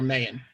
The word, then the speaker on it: Mahan: And what is Mahan? Has anybody ever heard of Mahan? Or Mahan, as it's sometimes pronounced.